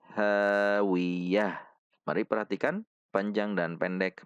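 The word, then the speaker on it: هاوية: tanwin Tun satu harakat Namun karena di akhir kalimat maka Ta marbutah ini disukunkan sehingga berubah menjadi ha cara membacanya hawiyatun menjadi hawiah Mari perhatikan panjang dan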